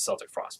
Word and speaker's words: Celtic Frost: I think Celtic Frost, if you want to, and they do pronounce it Celtic Frost, by the way.